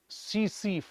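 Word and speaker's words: tsetse: In Africa domesticated animals are attack by सीसी flies. एक मक्खी का नाम है यह। सीसी कहते हैं। टी साइलेंट होता है उसमें। टेट से टेट से नहीं होता। सीसी होता है।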